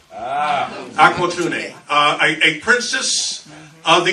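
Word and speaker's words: Aqualtune: name may be a little bit difficult to pronounce but it's aqua tuney aqua tuning uh a princess of the kambundu people uh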